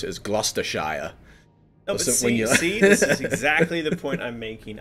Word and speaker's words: Gloucestershire: of the Rings or something like so like Gloucestershire they would pronounce it as Gloucester Shire exactly the point I'm making I don't call